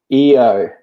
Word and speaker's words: Io: we have a question about now is it EO yes is that how you say it eio